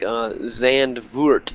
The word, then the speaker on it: Zandvoort: Zandvoort, did I say it right?